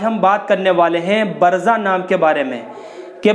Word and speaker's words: برزہ: تو محترم ناظرین حضرات، برزہ نام کا صحیح تلفظ اس طرح سے ہے، سب سے پہلے با ہے، اس کے بعد را ہے، پھر اس کے بعد زا ہے اور اس کے بعد میں ہا ساکن ہے۔ با کے اوپر زبر